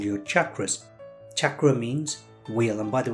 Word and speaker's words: chakra: centers called your chakras chakra means wheel and by the way it's pronounced chakra because it's an indian word chakra means real it's